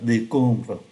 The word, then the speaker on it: décombre: Và chúng ta để ý phát âm ký tự M ở trong này cũng như ký tự M ở bên dưới là N, bởi vì đứng trước P và B.